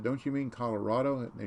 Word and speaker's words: Colorado: that they'd moved from colorado and brett said don't you mean colorado and they said no people from there it's colorado not colorado people every real say it wrong colorado right last name